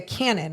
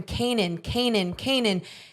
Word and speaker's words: Cannon: And because for the longest time we were all calling him Canaan, and then we went up and asked him. We said, hey, we've heard two different things. Is it Canaan or Cannon? And he's like, oh, well, you can say Canaan, but it is Cannon.